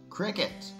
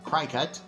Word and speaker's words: Cricut: gate church here and today we're all about Cricket or as some people mispronounce it uh cry cut um yeah we're going to be talking about